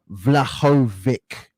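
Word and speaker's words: Vlahović: vladimir's prime as well saying it's pronounced phonetically vlahovic or vladjovic vladovic okay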